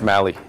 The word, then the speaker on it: Mali: say Bill Molly Molly I think it's Molly okay Molly is a drug it doesn't show no there's a pronoun there's a pronunciation look there there it is you can see it there look on your TV I know but if you do if you do pronounce Google Google it's Mali pronounce Molly and it'll